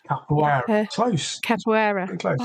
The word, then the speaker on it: capoeira: Is it because of your, I'm going to get the pronunciation wrong, capybara? Capoeira.